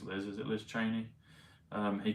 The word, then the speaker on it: Cheney: Liz I think it's Liz is it Liz Cheney um he called her churny Liz churny Cheney 60 but churny is 94